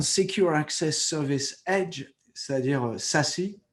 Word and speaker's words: SASE: Secure Access Service Edge, c'est-à-dire SASE. Ça se prononce SASE. Ce n'est pas l'enveloppe auto-adressée. Parce qu'en anglais, ça veut dire Self-Addressed Envelope.